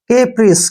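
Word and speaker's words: caprice: CAP को हम क्या पढ़ेंगे? केप, ऐसे केप, ठीक है? और RI का जो उच्चारण है हम री के रूप में लिखते हैं। सी को शै पढ़ेंगे ऐसे। केप्रिश, ऐसे लिख सकते हैं आप।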